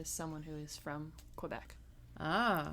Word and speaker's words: Quebec: Ooh, I also learned, allegedly, the correct way to pronounce that province in Canada that starts with a Q. Quebec.